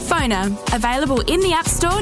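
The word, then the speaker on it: Phonr: That's spelled PFONR. Phoner.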